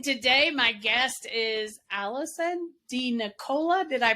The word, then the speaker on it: DeNicola: and today my guest is Allison D Nicola did I pronounce that right perfect yay I love it